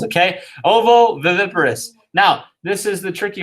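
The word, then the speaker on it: ovoviviparous: viviparous at the end okay you see ovo vivi and then p-a-r-o-u-s so i'll try that again oh the that's how many how many syllables is that that is one two three four five six syllables okay ovo viviparous now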